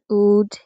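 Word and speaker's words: would: For example, walk এই শব্দে কিন্তু এল এর পরে কে আছে, তাই এল এর উচ্চারণ হবে না। এছাড়াও কুড, উড এ ধরনের শব্দেও এল এর উচ্চারণ হয় না।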